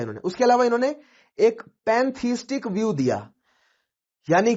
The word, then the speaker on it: pantheistic: तो यहां पर दो चीजें हैं, एक तो पैनएस्थेटिक व्यू, ठीक है, मैं गलत प्रोनाउंस कर रहा हूं, पैनथीस्टिक व्यू है ये, राइट, इट इज पैनथीस्टिक व्यू।